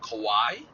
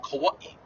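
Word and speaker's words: Kauaʻi: um say an island we have an island called kauai or people pronounce it kawaii like where the okina happens okina is an apostrophe that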